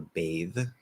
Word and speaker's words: bathe: say i'm going to not bath i need silent e there for bathe i'm going to bathe